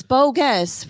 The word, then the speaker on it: Bogguess: you pronouncing anything wrong how do you say it i am not it's bogus right that's how it's like that's how you would enunciate it i guess i was